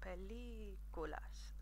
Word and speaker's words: películas: first but it literally when you see those accents above a vow it literally means for you to pronounce them a little bit longer than the other vowels in that word so for each of